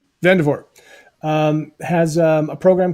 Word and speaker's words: Vandervoort: You don't pronounce the T. Vandervoort has a program called Vision Journaling Live.